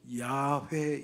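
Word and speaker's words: 야훼: 이제에 공동 본에서는 그 히브리 원 발음에 가깝게 쓰자. 그래 가지고 여호와라고 부르지 않고 야회 이렇게 불러요.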